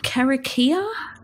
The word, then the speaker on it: karakia: interviewed megan who did the karakia i think is how it's pronounced which is the prayer